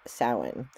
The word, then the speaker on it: Samhain: American Halloween and Celtic sowin so you when you see the word salmon and it's actually not spelled the way that it sounds it actually is spelled Samhain s-a-m-h-i-i-n but it's pronounced Salin so um this is